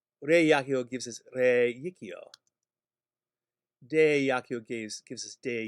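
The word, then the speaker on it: reicio: They are spelled with only one I, but they have a hidden Y sound in them. Because ab yakio gives us ab yikio. Re yakio gives us re yikio.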